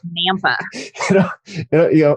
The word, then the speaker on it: Nampa: know all moved to Nampa. Which is like, it's like an hour outside of Boise. Yes. I know, and it kind of confused me because it's like Napa with an M, like Nampa.